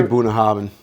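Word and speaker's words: Bunnahabhain: there's a lot of scotches out I say buah havin no you're right no you actually got it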